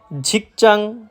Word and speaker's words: 직장: ঝিকচাং, ঝাগপচাং, সাওপচাং মানে কর্মস্থল। হ্যাঁ ভাই, আপনারা ঠিকই শুনতেছেন, আমি লাস্টে চাং উচ্চারিত করতেছি। আসলে সবগুলার লাস্টেই চাং উচ্চারিত হবে। কেউ যদি উচ্চারণ করে জাং, সেটা সম্পূর্ণরূপে ভুল। এরপর রয়েছে ছং ছপ চাং।